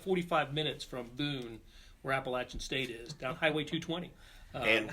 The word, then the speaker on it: Appalachian State: to school, but I've always known to pronounce it Appalachian State ever since Blair had a little run-in with Danny Nee. Former Nebraska basketball coach Danny Nee called it Appalachian. Yes. And Blair gently corrected him.